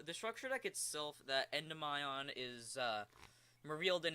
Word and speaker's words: Endymion: And yes, I'm pronouncing it Endymion, not Endymion, not Endymon. It's Endymion. It's not that hard, people.